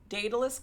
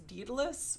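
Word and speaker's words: Daedalus: She is attempting to um get into this Datalus club which they keep mispronouncing as Dedalus which is annoying the out of me.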